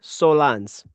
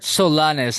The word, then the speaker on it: Solans: Say his name again. Sergi Solans. There we go. I heard Solanes. I'm like, h I heard that too.